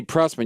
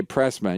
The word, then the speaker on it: Prussman: Oh, it's Prussman. You just put Pruss, my name. Spell your last name. Prussman. You can't say Prussman. You always say Pressman.